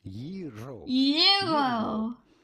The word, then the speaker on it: gyro: The G is not pronounced like the G. Your R rather strongly. Gyro.